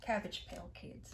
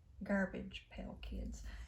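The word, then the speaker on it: Garbage Pail Kids: that's too many cards make sure I say it right garbage pale kids cuz I've been known to call it cabbage your cabbage pill not meaning to we have the five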